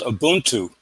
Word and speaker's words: Ubuntu: Well, that African word, in case you're interested, is called Ubuntu. Mm-hmm. There's actually an Ubuntu party in South Africa today. The word is spelled U, B as in boy, U, N